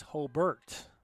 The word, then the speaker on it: Hobart: Don't call it Rivas because that's that's like calling, believe it or not, Hobart, which is spelled Hobart. It's Hbert. I made that mistake broadcasting